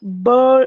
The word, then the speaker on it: ball: No, it's not. It's similar, but it's not the same pronunciation. Okay. Remember there in bowl, there's the letter W.